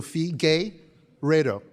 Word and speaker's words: Figueiredo: So Fee, gay, Redo.